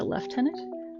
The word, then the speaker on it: lieutenant: is very interesting that even though it is written and looks like phonetically it should be pronounced lieutenant in the UK and probably other European places they pronounce a leftenant it's like sure whatever